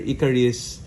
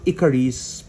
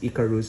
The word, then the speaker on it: Ikaris: So I I always mispronounce it as Icarus because there's a a great story about Icarus being uh attracted or getting too close to the sun.